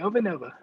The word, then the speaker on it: Ovanova: um so thank you over nova is that how you say it yeah exactly over nova okay perfect for the